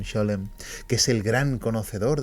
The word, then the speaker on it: Scholem: donde estaba Gersom Scholem, que creo que se pronuncia Solem, pero yo siempre he dicho Gersom Scholem, que es el gran conocedor de la historia de la cábala.